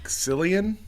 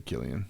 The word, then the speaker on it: Cillian: Cillian. It's I don't know I how thought you it was pronounce Killian. it. It's Irish, right? Or something. If it's Irish, it's probably Killian. I think it's Killian.